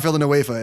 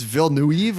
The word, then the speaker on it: Villeneuve: It's Denis, but his last name is not Villanueva. It's Villeneuve, or I don't know, whatever.